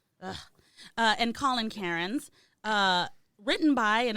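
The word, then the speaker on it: Cairnes: by Cameron kons Karens is that how you pronounce it Kens kons Karens I'm gonna go k oh my God they're Karn uh and Colin Karn uh written by and it's just the same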